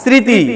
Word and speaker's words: স্মৃতি: করে লেখার চেষ্টা করবেন প্রথম শব্দ উচ্চারণ করেন তো স্মরণ ম ফালা উচ্চারণ আছে নাই নাই শ্মশান শ্মশান ম ফালা উচ্চারণ আছে না স্মৃতি ম ফালা উচ্চারণ আছে না নাই তাহলে এই জাতীয় শব্দের ভিতরে ম ফালা কখনো উচ্চারণ হবে না তাহলে মোরাল কথা আমরা